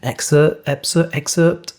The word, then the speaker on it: excerpt: I sometimes overpronounce that and over-enunciate because of the PT at the end. Excerpt.